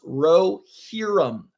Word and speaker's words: Rohirrim: Name is pronounced Rohirrim. Oh, I've seen that Lord of the Rings word. I'd never know how it was pronounced. Rohirrim is how you pronounce that word because it's that animated movie.